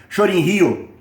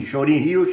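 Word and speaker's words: Shorin-ryu: é, por exemplo, karatê Shorin Rio, que que é uma pronúncia japonesa de Shaolin, Shorin Rio, Shaolin, pequeno bosque.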